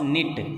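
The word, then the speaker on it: knit: तो यहाँ एडजेक्टिव है तो अपन बोलेंगे क्लॉस निट, के साइलेंट है।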